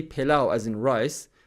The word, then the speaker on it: pilau: So people will actually say pilof, but it's pilau.